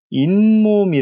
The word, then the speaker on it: 잇몸: 몸이 라고스 있음에도 불구하고 우리는 발음을 어떻게 바른 만 하면 잇몸이 라고 발음 한다는 것이죠 잇몸 이 말인즉슨 이 이라는